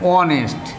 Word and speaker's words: honest: Here honest, and here H remains silent.